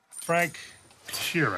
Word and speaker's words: Frank Sheeran: Frank Sheeran.